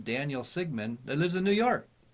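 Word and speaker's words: Sigmann: Sigmund. Nope, no D on it. No D. M-A-N-N. Just Sigmund.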